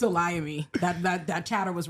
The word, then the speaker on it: Olayemi: And it's Olayemi. That chatter was right that time. And I was like, damn. Olayemi.